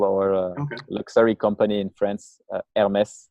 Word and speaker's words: Hermès: luxury company in France, Hermès. Not sure if you're familiar. It's like I think in English people would pronounce it Hermes, with like the fancy bags and stuff.